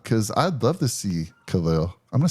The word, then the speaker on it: Khalil: in but Khalil and I'm going to say his name right Khalil and that's the right way to say it stop saying Khalil just found that out